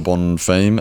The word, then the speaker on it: Bonfim: And then next on we had the brother, Gabriel Bonfim.